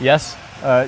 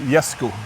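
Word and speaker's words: Jesko: it it's my father Yes uh yesu okay yesu there you go you've heard it first that's the Swedish way of so it's a y right okay and J or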